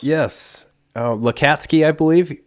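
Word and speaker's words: Lacatski: Do you know how that name's pronounced? Yes. Lakatsky, I believe. Lakatsky, that's right.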